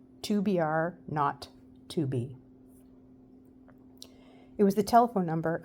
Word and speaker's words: 2BR02B: were supposed to call the zero in the telephone number he pronounced not the number was tobr not to be it was the telephone